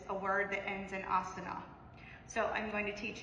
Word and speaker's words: asana: Asana. So it's asana. The at the end is assumed, so you pronounce it asana.